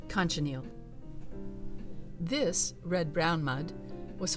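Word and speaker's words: cochineal: organic sources such as cockaneal insects who have brilliant colored shells for carmine red sorry that's pronounced conchaniel this red brown mud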